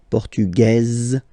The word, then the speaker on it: Portugaise: Feminine form, Portugaise, you pronounce this Z sound, okay?